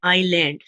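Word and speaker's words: island: इसी तरह देखिए, मैंने लिखा है एन आईलैंड, तो आईलैंड में एस तो साइलेंट होता है लेकिन आई से शुरू होता है, आई इज अ वॉवल, तो इसके साथ हम एन लगाते हैं।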